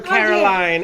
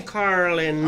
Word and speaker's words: Carlin: No, we mispronounced her name a while ago. We called her Caroline, and she said, "My name is Carlin."